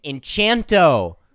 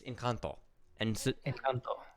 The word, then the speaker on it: Encanto: it yeah i i'm abby is complaining that i'm saying it wrong so i'll start saying enchanto it's it's encounter um so just to